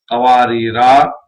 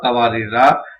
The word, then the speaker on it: قواریرا: نہیں کیا جائے گا۔ یعنی پہلے مقام پر آپ نے قواریرا پڑھا ہے تو دوسرے مقام پر قواریر پڑھنا پڑے گا، یا پھر پہلے پہ